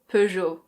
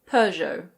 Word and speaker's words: Peugeot: In French this is pronounced Peugeot. Peugeot. In British English people say Peugeot. Peugeot. In American English it's usually Peugeot. Peugeot.